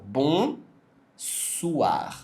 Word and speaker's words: bonsoir: aqui na tela mas o mais importante é você pegar a pronúncia bom suar é é bom suar literalmente o oi no francês ele equivale ao u a OK bonsoir depois savá savá que